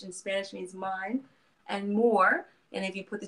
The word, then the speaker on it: Mhoor: that just yet but it is pronounced more the same way the North African Moors or the names I'm